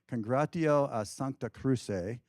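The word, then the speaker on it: Congregatio a Sancta Cruce: on to be called, and here's my Latin pronunciation, Congratio a Sancta Cruce, which literally means Congregation of the Holy Cross.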